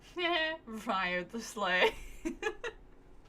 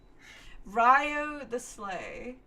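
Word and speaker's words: Wriothesley: Ryo the Sleigh. Ryo the Sleigh.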